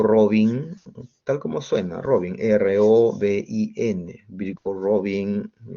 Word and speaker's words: Robin: Y Robin o Robin, tal como suena, Robin, R-O-B-I-N. Birkhoff-Robin lo dicen usualmente, pero la pronunciación es Birkhoff-Robin.